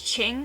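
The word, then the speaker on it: Qing: from Ching Beauty Shop I've seen people like mispronouncing it Qi ng is Ching after the Ching dynasty is from China it's called the Brazilian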